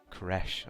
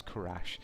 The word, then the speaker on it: Kerrash: of people were uh pronouncing my name Kesh I think but that is that is an a it is Kash I always used to